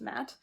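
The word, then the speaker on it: Ma'at: attack yep oop that's a confirm okay matt pronounced matt is the egyptian goddess of integrity fairness and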